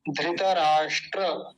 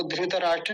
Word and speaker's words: धृतराष्ट्र: है कि हम उच्चारण शुद्ध सीखें नामों के भी। धृतराष्ट्र, वो धृतराष्ट्र ना कि धृतराष्ट्र।